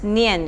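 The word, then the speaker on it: 念: okay so yeah it's a word pronounced as nyan in Chinese so if you really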